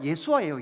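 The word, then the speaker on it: ישוע: 여호수아도 사실 원래 발음대로 하면 뭐예요? 예수아예요. 예수아.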